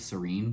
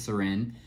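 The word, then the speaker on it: Sirène: I rewatched the reveal video and they called the doll SIRENE. I thought it was Serene, but I guess it's SIRENE. Yeah, so it's the Mermaid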